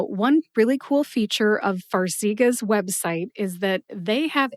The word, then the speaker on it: Farxiga: Farxiga has 3 syllables. Far, as in Hawaii, is far from where I am in Ohio, and that's why I've only been there once. See, like I can see really far through my binoculars. And gu, like the first 2 letters in the word gut, G-U-T, gut, gu. Put all 3 syllables together and you get Farxiga.